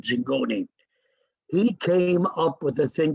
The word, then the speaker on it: Zingone: time called louis zingone d-i-n-g-o-n-e i think but he pronounced it zingone came up with a